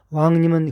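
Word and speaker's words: 王仁: 우리가 흔히 왕인 박사라고 하는 인물은 일본 측의 역사서에 기록되어 있는 것을 그대로 번역하여 놓은 것인데 왕인의 한자 표기는 우리의 옛 발음으로 왕님입니다. 왕님은 글자 그대로 왕의 지위를 갖는 높은 분이라는 뜻입니다.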